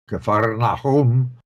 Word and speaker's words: Kfar Nahum: was in the synagogue, Kfar Nahum, as they pronounce it.